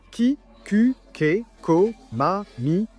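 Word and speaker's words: 木: Par exemple, pour le mot arbre, qui se prononce ki, le kanji en fait évolue à partir de ce qui aurait été à l'origine un dessin d'un arbre, non?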